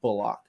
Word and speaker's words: Bullock: It's not Bullock. He said they've been mispronouncing his name for like 10 years. It's Reggie Bullock.